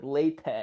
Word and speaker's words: LaTeX: have to use latex I guess I should call like laype or whatever because the x is technically silent but who really cares